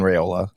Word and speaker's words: Raiola: makes in there yeah no just just straight up uh Rola coaster Rola coaster it's just like your